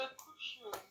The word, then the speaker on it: couche: Se couche. Mm. You're forgetting the and. Our conjunction is not here for fancy. Oh. Et. Mm-hmm. Et. Il se couche. Se couche, because there's no accent on the last E.